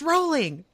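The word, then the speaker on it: Rowling: 12 people being like, "It's pronounced rolling."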